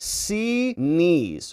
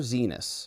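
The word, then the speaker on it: Xinis: She calls it C knees," pointing to her eyes and to her knees. Don't call her Zenus. She hates that cuz it sounds like penis and I bet she hates it.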